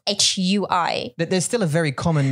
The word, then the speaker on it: 会: And if something sounded like hui, hui bu hui, and I would say, oh, hui, H-W-A-Y, hui.